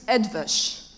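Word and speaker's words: Eötvös: And every Hungarian people I met told me it's very easy, you just follow the letters. So it's Edvash. That's it? Edvash.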